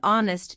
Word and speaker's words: honest: The reason why the answer to the question is Anne is that the word honest begins with a vowel sound because the sound of the letter H is silent.